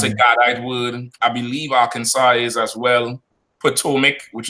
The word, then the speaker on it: Arkansas: That word is pronounced Arkansas. That last S is silent.